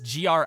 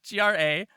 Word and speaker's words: Graist: That's Graist. But pronounced like great.